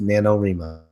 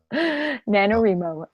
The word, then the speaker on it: NaNoWriMo: novel writing month and I don't know why r I teen would be pronounced remo but it's boy sort of pronounced nanowrimo nanowrimo ok so nanowrimo runs from